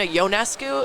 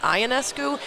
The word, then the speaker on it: Ionescu: You'll learn how to pronounce some goalie from Russia for hockey, but you won't spend a second to learn it's Sabrina Ionescu and not Ionescu, even when she's breaking triple-double records left and right.